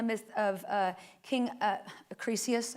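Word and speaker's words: Acrisius: It's based on the myth of uh King uh Acres, I think is how you say it.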